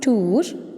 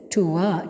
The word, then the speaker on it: tour: It's pronounced as U, and reverse E is pronounced as A. So that is UA. The diphthong sound is UA. Clear? And which are the examples? Tour.